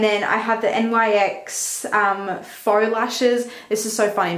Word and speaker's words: faux: And then I have the NYX Faux Lashes. This is so funny because when I first bought this, I pronounced it as Fox Lashes or something like that. But I know it's faux.